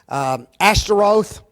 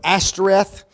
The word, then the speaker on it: Ashtoreth: Folks, that is the goddess Ashtaroth or Ashtoreth, however you want to pronounce it.